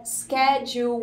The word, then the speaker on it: schedule: retorno Quando Deus quer a segunda forma americana de falar é escadil ou sim é como se tivesse uma sílaba mais a parte que eu acelerei da última para eles é mais calmo Então a gente tem o mesmo começo que é esquece quer que depois tem aquele DJ semana antes durante e